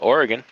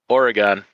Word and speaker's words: Oregon: Dan's Trucking and Outdoor Adventures says evening from a TA in Oregon.